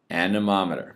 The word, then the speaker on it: anemometer: instrument called an anemometer anemometer practice saying it you have to know how to say it it is not the monument all right and you